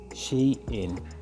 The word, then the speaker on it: Shein: come out and said the way to pronounce this word is she in so separated into two so she in instead a bit quicker so she in and that's how you